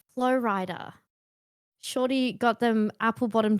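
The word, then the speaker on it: Flo Rida: And I was like, Flow Rider. Shorty got them apple bottom jeans, Yeah. boots with the fur. This is not making sense in my head. Turns out Flow Rider rhymes with Florida.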